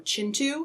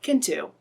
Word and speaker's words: Kintu: The 3 of us have been slowly making our way through Chintu. I learned by reading the introduction to this book that that's actually how you pronounce it and not Kintu.